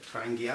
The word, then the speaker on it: Trangia: So this is the Trangia, or Trangia, I think they pronounce it.